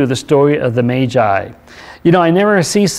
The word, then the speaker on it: Magi: The last time we saw in part one of our series on the Magi, and it's pronounced Magi, I have a bad habit of pronouncing Magi, but it's actually Magi, who came seeking He was born King of the Jews.